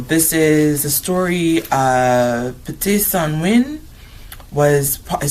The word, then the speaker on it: Pte San Win: Before I pull this up, I went online to see how the Lakota say it. Um the first part I couldn't pronounce, but some of them it's Ska Ska Win. Not Sanwi, but I think Sanwi is a way to say this well, too.